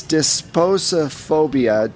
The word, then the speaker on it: disposophobia: losing things okay it's called I'm going to spell it for you it's disposophobia d i s p o s o p